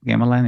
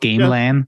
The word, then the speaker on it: gamelan: I pronounce this correctly gamelan yeah it's not Game Land even though it's well it's like written like this if you read it yeah it's spelled like Game Land exactly yeah and um well